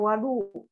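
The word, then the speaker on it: وَضوء: Nah, jadi kalau hadirin sekalian melihat langsung di kitab Sahih Bukhari, ini kalimatnya dibacanya wadu.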